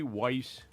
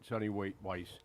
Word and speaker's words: Weiss: They said that they were in the Sonny Weiss Sonny parking lot. Wise. Sonny watching- Wise. Sonny Wise. Sonny Weiss parking lot. Yeah. I pronounce it Weiss. Yeah, it's Sonny Weiss or Sonny Wise. Anyway, it doesn't matter.